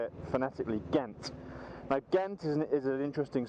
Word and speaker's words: Ghent: past and then we're going to go past Kent and that's actually the correct pronunciation for what how we would say it fanatically Ghent now gentis is an interesting City in Belgium